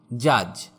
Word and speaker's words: judge: Silent D, যেমন জাজ, JUDGE, এখানে ডি এর উচ্চারণ হবে না।